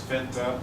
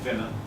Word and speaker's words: finna: So finta, it can be either pronounced as finta or finna, depending on how you choose to say it.